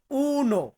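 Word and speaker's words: uno: শিখিয়ে নেই যারা ভুলে গিয়েছেন আজকে শুধু বাংলাতে উচ্চারণ দেব যেমন এক এটাকে ইতালিয়ান ভাষাতে বলা হয় উনো উনো মানে হচ্ছে এক বা ইংরেজিতে আমরা যেটাকে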